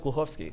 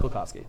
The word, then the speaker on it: Glukhovsky: Yeah, Glukhovsky. In Russian, you want to pronounce it in Russian? My name in Russian is Glukhovsky, but it's Glukhovsky.